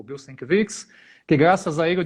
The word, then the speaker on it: Sienkiewicz: Mas assim, o que ele me falou é Bill Sienkiewicz. Céu, Essa nossa, é a pronúncia mais correta.